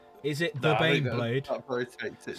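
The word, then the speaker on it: Baneblade: Is it the Bane Blade? Slay is correct. It's pronounced Bane Blade.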